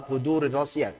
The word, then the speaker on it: قدور الراسيات: Nah, di sini ada ra kasrah yang tanwin kemudian masuk ya. Masuk kepada ra yang fathah, jadi tebal. Perhatikan, ri-nya, ri tipiskan dulu, kemudian ra tebal begitu saja.